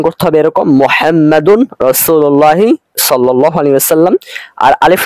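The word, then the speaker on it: محمد رسول الله: বরং আমাদের বলতে হবে মুহাম্মাদুন রাসূলুল্লাহ সাল্লাল্লাহু আলাইহি ওয়াসাল্লাম। তাহলে খোলাসা কথা দাঁড়ালো এই যে অনেকে এখানে উচ্চারণ করে থাকে মুহাম্মাদুর রাসূলুল্লাহ, এটা ভুল।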